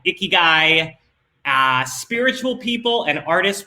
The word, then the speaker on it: ikigai: japanese call it your rezon they are correct me i said it wrong uh the japanese call it ikigai uh spiritual people and